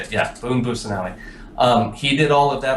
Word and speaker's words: Busanelli: I can never say his last name right. One second, let me make sure. Busanelli, I believe is how you say it. Yeah, Boone Busanelli.